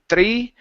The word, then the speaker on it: three: uh three right here give me a good T HR here instead of three th push the tongue down for that R thir three times three